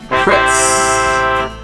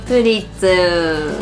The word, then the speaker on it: Pretz: Pretz. Pretzel. Pretz. We say pretzel, I think. Yeah, but it's written pretz.